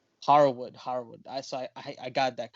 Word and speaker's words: Harwood: Cash Wheeler and Dax Hardwood. Harwood. Yeah. Harwood. Harwood.